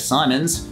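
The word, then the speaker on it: Siimon: used by this guy Sion Reynolds I pronounced the extra I because he has the audacity to include it back in the 80s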